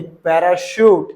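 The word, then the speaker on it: parachute: जैसे कि देखिए पैराशूट ये आया ना सी एच यहां पास ओके अब इसको च मत पढ़ देना वरना गलत प्रोनाउंस हो जाएगा ठीक है और मैं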